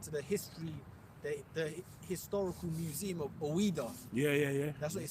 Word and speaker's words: Ouida: It's like it was spelled Ouida. Ouida. Yeah. Ouida. That's basically how they say it.